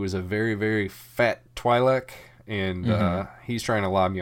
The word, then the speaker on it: Twi'lek: I've always pronounced it Twi'lek with a Y sound. This is what Orn Frita says, is Twi'lek. Everyone else in this episode pronounces it the other way, which is Twi'lek.